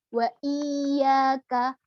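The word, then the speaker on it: وإياك: dan Duh kemudian selanjutnya waiyyaka wa iyyaka sama juga kayak ya terletak di awal berikan nabroh pada huruf ya' nya kemudian jangan sampai terputus ataupun jangan sampai ini keseret panjang wa iyyaka nastain Najwa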